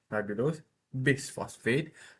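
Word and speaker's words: ribulose bisphosphate: Ribbulos bis phosphate is pronounced just like this. Riulos bis phosphate bis phosp ribulose bis phosphate rub bp for sure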